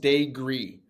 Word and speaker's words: Daigre: Uh, last name pronounced De Gree. So, like I always say day and then like green but without the en at the end of that.